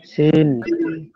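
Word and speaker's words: س: ঝা ছািন সিন তিন অক্ষটাও একই জায়গা থেকে উচ্চারণ হবে এই জিবার আগা নিচের দাত নিচের দাত থেকে উচ্চারণ হবে সিন সিন এবং একই দেখতে সবকিছু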